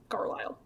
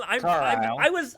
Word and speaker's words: Carlisle: So, Carlisle idly poked at the campfire with The S is silent. Oh. It's Carlisle. I should have known. Carlisle. I'm from the city of Lyle. I should know this.